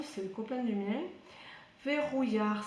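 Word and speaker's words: Vehuiah: Verrouillard, ça s'écrit V-E-H-U, et là, le U se prononce OU.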